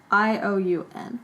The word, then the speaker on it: Ione: Who Is that is spelled like Ion? Ioun.